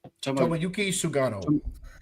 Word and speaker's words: Tomoyuki Sugano: Tomoyuki Sugano. Your pronunciation of the Asian baseball players is phenomenal.